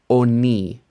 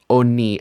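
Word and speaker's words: עֳנִי: This vowel has been shortened, and it's pronounced oni, oni, and this means a poor person.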